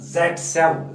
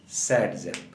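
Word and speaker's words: Zaitsev: Actually the name is who formulated this rule was actually Alexander Zatsev। Zatsev है उसका असली, Alexander Zatsev। अब इसको हम प्रोनाउंसिएट करते हैं Satzeff, उसको हम प्रोनाउंसिएट करते हैं Satzeff।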